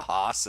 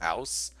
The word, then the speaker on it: Haas: Also, I think someone told me that the Haas is actually pronounced house. Still, but I like Haas, so I'm doing that.